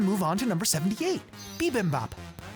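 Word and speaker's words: bibimbap: Bimbop.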